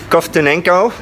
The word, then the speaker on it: Kovtunenko: Hi everybody, I'm here with Nikolai Kovtunenko. Did I pronounce it right?